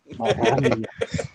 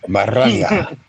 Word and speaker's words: Maranya: Oh, Maranya says, yeah, you are pronouncing it correctly, but rolling the R's sounds really awesome. Maranya. Maranya.